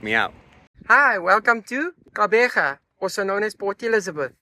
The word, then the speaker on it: Gqeberha: Hi, welcome to Gqeberha, also known as Port Elizabeth.